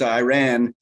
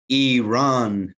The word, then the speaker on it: Iran: players, he stated, he didn't ask him, he said, hey, you're pronouncing our country all wrong. It is pronounced Iran. You are pronouncing it Iran. That is incorrect, the journalist said to this person.